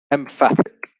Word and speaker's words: emphatic: would be we got emphatic so here the stress actually changes to the second syllable moving on to have